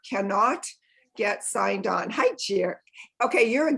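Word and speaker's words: Geri: I'm assuming that's a Gary, which is G-A-R-I, and I'm a Jerry, which is G-E-R-I.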